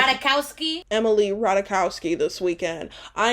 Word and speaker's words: Ratajkowski: Can I get a pronunciation? Ratajkowski.